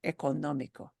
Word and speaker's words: económico: Oh, still sounds like the basic sound doesn't change, but the syllable that gets harder punch, harder stress, more stress is this sound. Therefore, it carries an accent mark. Económico.